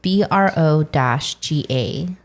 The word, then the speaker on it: Broget: like dissing the Polyneuria broget that one day, yeah. but they said that it's German actually. Okay. And it's pronounced BRO-GA. So Broga? Broget? Broga. no, it's BROGA.